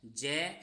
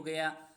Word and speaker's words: ज्ञ: देखो इसका सही उच्चारण जे है, लेकिन प्रचलित ये हो गया और इसलिए इसको गे ही उच्चारण करने लग गए, लेकिन फिर भी हमें इसका उच्चारण जे ही करना चाहिए।